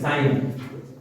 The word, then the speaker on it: sin: शुरुआत के 3 अक्षर SIN, साइन, ठीक, COS, कॉस, TAN, टेन, COT, कॉट, SEC, सेक, COSEC, कॉसेक, कॉसेक। ये इनका प्रोनाउंसिएशन है, उच्चारण है।